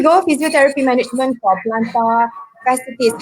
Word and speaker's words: fasciitis: Physiotherapy management for plantar fasciitis. How do I pronounce it?